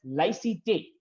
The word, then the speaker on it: laïcité: The French idea of secularism in that sense, in France, in French, they call it as laïcité. Again, I might be wrong in the pronunciation.